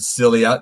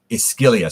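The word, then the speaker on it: Scylla: uh cilia or skillia some people pronounce it cilia the modern day pronunciation based on greek i think it's greek ischilia so i'm going to call her scalia um but uh we've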